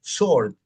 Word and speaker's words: sword: No se dice sword, la espada, es sword. O sea, existen en el inglés letras mudas como en español existe la H.